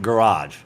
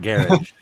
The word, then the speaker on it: garage: yeah I pronounce it garage it's a garage my family pronounces it garage everybody where I came from pronounces it garish it's like a soft jish sound jsh I don't [